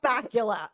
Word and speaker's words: Bakula: nothing else this murderer's name rhymes with Dracula it is Scott bacula listen I love Scot